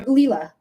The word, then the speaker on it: Leela: Uh, but um, Leila, let me know what type of reading are. Leela, I keep saying your name wrong.